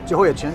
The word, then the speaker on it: Jehoiachin: And I'll let you pronounce them for me. Jehoiachin, is that correct? Jehoiachin, yeah.